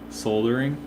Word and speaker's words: soldering: I know that in 5 or 6 hours in ahead, England, the way they pronounce it is there's like a soft L that happens there.